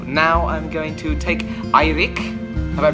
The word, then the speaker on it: Eirik: So now I'm going to take Eirik, have I pronounced it right? Yes! Eirik back to his hotel, and then it's going to be a long night of video editing.